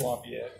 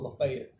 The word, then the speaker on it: Lafayette: It's Lafayette, but they call it Lafayette. It's always weird to me. Local pronunciations can vary.